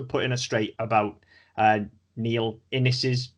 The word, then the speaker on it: Innes: So well, first and foremost, thanks for writing in, and thanks for putting us straight about Neil Innis's name. Then it rhymes with Guinness, it's Innis, and Innis Book of Records, incidentally, is a very good pun in that case.